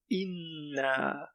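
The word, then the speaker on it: إنا: Inna. Here's a shadda, which looks like a 3 tipped over. So we need to put emphasis on the noon. That's a letter N in English.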